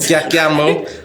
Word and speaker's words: Ntyatyambo: Am I saying it right, bro? Yeah, that's correct. NTYATYAMBO.